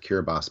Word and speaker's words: Kiribati: In the nation of Kiribati, which is written Kiribati, but pronounced Kiribati by the locals.